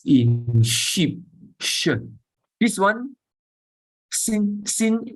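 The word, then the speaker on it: שׂ: This one, sin is just same as Samekh. Just the same as sound, s, as in snake.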